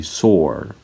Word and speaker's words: soar: Although it ends with letter E, it doesn't end with an E sound. It ends with the R sound. You say soar.